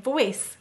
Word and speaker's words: voice: puzzles about English words the C says s because of the E why do we have